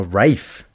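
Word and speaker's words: Ralph: sounds about right though so it's wfe Rafe fins RAF fins um but yeah but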